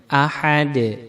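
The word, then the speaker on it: أحد: Kemudian benar bacanya ahad. Dal mati qalqalah, dipantulkan suaranya.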